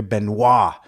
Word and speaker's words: Benoit: here you know with Sophia benois which I Learned was I was saying it wrong for a few years H most people are and if they do say it right they know it because of Chris penois a murder or um